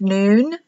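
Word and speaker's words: nun: It's pronounced noon, the 14th letter, noon, value of 50.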